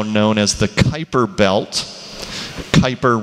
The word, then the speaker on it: Kuiper: as the kuiper belt kuiper rhyming with viper gerard kuiper was an